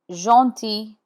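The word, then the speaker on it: gentil: at the first example jti means kind here the G is in front of e and the final L is not sounded JY JY Obin Obin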